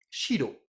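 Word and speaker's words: 白: Et blanc, je vais le dire shiro.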